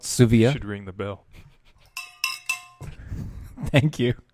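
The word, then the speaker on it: Dsuvia: new opiate it's called Sioux via listen on the D is silent there's a D in the name and the D is silent just so you know so it's called Sioux vo during the bill thank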